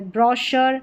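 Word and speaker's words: brochure: यहां पर है ब्रॉशर। श पढ़ा जा रहा है सी एच को यहां पर पैराशूट शैंपेन और यह है शेफ।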